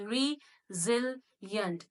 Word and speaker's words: resilient: It is not re. It is resilient.